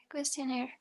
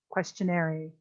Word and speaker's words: questionnaire: instrument questionnaire questionnaire questionnaire remember you're at a point where the word questionnaire should be automatic in pronunciation and we should not be saying it questionary as we have said a hundred times already all right overall